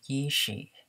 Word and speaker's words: YEESHIH: I pronounce it as YEESHIH, YEESHIH, YEESHIH, YEESHIH, YEESHIH.